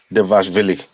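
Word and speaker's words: Dvalishvili: Devashvili. Oh, okay. All right. This guy. You're back because you can pronounce a Russian name.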